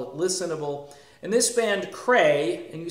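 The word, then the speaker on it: Creye: And this band, Cray, and you spell that C-R-E-Y-E, a band that hails from Sweden, of course.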